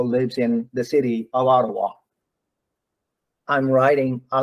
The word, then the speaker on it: Ottawa: You've got to pronounce the T. Change the T to D. So Ottawa.